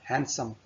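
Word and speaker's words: handsome: हाउ हैंडसम यू आर, इसे हैंडसम नहीं पढ़ना, डी नहीं पढ़ना, हैंडसम, इसमें डी साइलेंट है।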